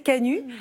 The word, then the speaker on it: Canut: à Lyon au cœur de la maison des Canuts alors je savais pas comment prononcer on dit bien Canut hein c'est ça